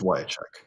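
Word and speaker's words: Wiacek: written out pronounced but is it is it Bob Yek. It's Wek.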